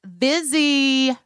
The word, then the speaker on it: Vizzy: getting vzy with it it rhymes with fizzy it's Fizzies are fizzy